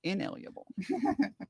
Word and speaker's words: inalienable: The term unalienable, a mispronunciation of inalienable.